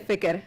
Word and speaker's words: fikr: So you say Ini fikeralu, or you just say fikr. Say fikr. Why is that a S? How you spell that? Like F-I-K-E-R. so thicker. Yep. Thicker. Fikr.